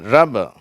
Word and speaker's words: ரப்பர்: இது ஆர் அப்படின்னு ருன்ற உச்சரிப்பு. அடுத்தது அ அப்படிங்கிற ஒரு நல்ல ஒரு துள்ளலோடு இருக்கிற அந்த அ ஓசை ர. அதனால் இது நல்ல அழுத்தமாக சொல்கிறனால இங்கே ஸ்ட்ரெஸ் இருக்குது. ப இது லேசாக உச்சரிக்கப்படுது. ரப்ப ரப.